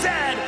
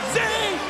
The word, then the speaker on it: zed: A toque is a hat, a chesterfield is a couch and it is pronounced "zed," not "zee," "zed"- Brett: I was at an Academy Awards